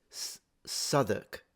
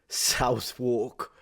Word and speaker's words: Southwark: He says like Southwark. Goodness gracious, I would have said Southwark or Southwark. Oh goodness gracious, what do I know? It's a bit like cupboard, right?